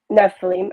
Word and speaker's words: Nephilim: are supposedly the um Nephilim is that how you say it Nephilim yeah yeah they're the really giant people it's Nephilim Nephilim okay thanks so they